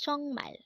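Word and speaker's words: 정말: sorry next word is chongmal again this is pronounced as chongmal and this is used to say really or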